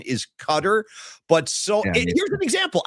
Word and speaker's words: Qatar: I've been saying Cutter. Well, that's the correct pronunciation. Correct. Paulie, the entire broadcast yesterday they're saying Qatar.